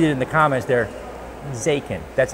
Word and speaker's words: Zaken: Zaken. That's how you pronounce it.